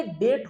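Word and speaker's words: debt: हैं पता है बच्चे डेट होता है डेट बी साइलेंट होता है दी ए बी टी स्पेलिंग वही होगा बट बी इस साइलेंट इसीलिए इसका उच्चारण डेट होगा क्लियर है क्लियर है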